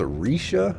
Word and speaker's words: Rixia: Her name is pronounced Risha, I believe, but we're sticking with Rixia. Rixia Mao.